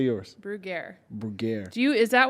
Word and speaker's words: Bruggere: mask this is everybody pronounces my last name brugier they pronounce the French way and I correct them and I say no this is America and it's brugaire but if you if you if brugaire if